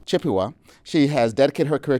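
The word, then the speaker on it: Chippewa: Turtle Mountain Band of how you pronounce that Jessica? Chipua. Chipua.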